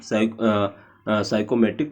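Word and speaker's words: psychrometric: और डिफरेंट, देखो ये भी आपका इंपॉर्टेंट है, साइकोमेटिक प्रोसेस, जिसमें पी साइलेंट है तो इसलिए आप लोग स्पेलिंग वगैरह देख लेना, ध्यान आप लोग सर्च कर लेना। Different साइकोमेट्रिक process and there representation on साइकोमेट्रिक chart, ठीक है।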